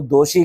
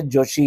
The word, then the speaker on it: जोशी: अच्छा यहां मैं एक सॉरी कह दूं क्योंकि बेसिकली मैंने दो बार नाम जो प्रोनाउंस किया वो दोशी कह के प्रोनाउंस किया है। जबकि उनका जो है सरनेम जो है जोशी है।